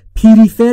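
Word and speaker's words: prefer: فرفر یعنی ترجیه دادن تلفظش دقت بفرمایید دوستان پریفر یا پریفر نگفتم پپ بین پی و ر صدایی وجود نداره ما هم صدایی اضافه نمیکنیم پ یعنی ترجیح دادن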